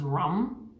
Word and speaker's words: Ram: the color of yellow the sound is rum Ram which is spelled like Ram the element is fire